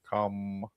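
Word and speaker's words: CAMH: The H is silent. Come um her goal was her goal for this was treatment for her addiction and her mental health.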